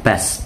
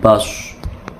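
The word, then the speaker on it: بسطة: surat ket7juh ayat 69 contohnya bastoh Sin ya Bas bukan Bos ada yang lain SH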